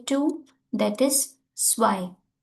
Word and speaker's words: zwei: That is zwei. Zwei. The z will pronounce like a s.